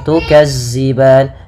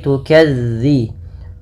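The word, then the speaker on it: تُكَذِّبَانِ: hati-hati teman-teman dilafalmelafalkan dalalnya jangan diganti dengan huruf Zai jangan tukazziban tapi tukadzi bagaimana cara melafalkannya ujung lidah ujung lidah menempel dengan gigi serari atas gigi serari atas sehingga dia pelafalannya terdengar bukan Za bukan Za makaban kemudianfal ban ada madukun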